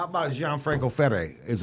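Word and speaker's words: Ferré: Dior Dior is Dior how about Jean Franco fere is F how you say it John Franco fay fay I like this Jude because now you're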